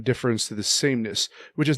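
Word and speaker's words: différance: A attached to it difference no it's actually pronounced exactly the same it's a homophone well no one would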